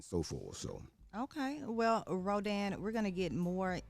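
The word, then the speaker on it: Rodin: one Augusta Francois Rodan which is spelled r-o-d-i-n spelling uh pronouncing French Rodan uh one of my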